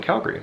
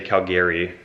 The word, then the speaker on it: Calgary: find that so ugly a lot of other Canadians will say Calgary like like almost like the name Gary and then Calgary but we say Calgary like that's how it's